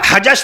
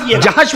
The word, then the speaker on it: جحش: وہ نقطہ جیم کا نہیں ہے، وہ نقطہ باقاعدہ جحش، حضرت زینب بنت جحش رضی اللہ عنہ. میں حجش نہ پڑھیے گا، جحش پڑھیے گا.